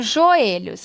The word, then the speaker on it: joelhos: falando da acentuação e para ser oxítona a sílaba mais forte tem que ser a última então eu falo joelhos para ser a última sílaba não eu falo joelhos então ela não é oxítona e sim paroxítona então aqui a terceira